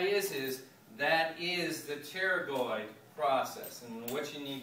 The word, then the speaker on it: pterygoid: here okay uh the p is silent so you just say pterygoid uh i'm sorry you